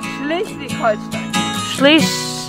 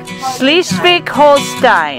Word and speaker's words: Schleswig-Holstein: Pronounce the second word for us. Schleswig-Holstein. Schleswig-Holstein.